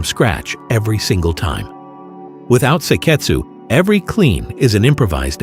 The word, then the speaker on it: seiketsu: The fourth is seiketsu, pronounced sei-ketsu. It translates roughly as standardization.